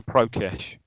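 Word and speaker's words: Prokeš: Prokes. Go Prokesh. Prokesh. Yeah.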